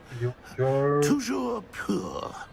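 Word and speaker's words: toujours: Tujour.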